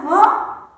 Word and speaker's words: vovó: Vovô tem o som fechado. Vovó tem o som mais forte. Mas qual é a primeira sílaba da palavra vovó?